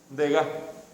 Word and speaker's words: Degas: Y en este caso, si no pronunciamos la última consonante, Degas.